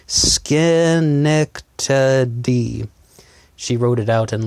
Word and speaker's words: Schenectady: pronounce that name and I was saying shinnok Teddy senac Teddy and she actually wrote out some phonetics for me skin neck D she wrote it out